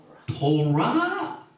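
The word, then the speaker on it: תורה: 이 타프, 그 다음에 레이시, 밥, 헤이 요 네 개를 잘 보면은요 이 탑 다음에 밥을 넣고 그 다음에 레이시와 헤이를 넣으면 뭐라고 발음합니까? 토라.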